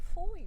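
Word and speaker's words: Fowey: having a picnic and I finally found out how to pronounce my final destination and then so you walk to Foy don't you just the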